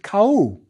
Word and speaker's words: Ka'u: They would have been pronounced Ka'u, since U is the plural ending.